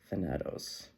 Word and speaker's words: Thanatos: again the same energy Thanos wait is that Thanatos I pronounce that right yeah o I love this